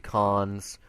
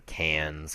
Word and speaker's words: Cannes: But moving to regular headlines, the cons or cans, however you pronounce it. There's no Can. real way. A Festival couple du big. Cannes. There, that's how you say it in French.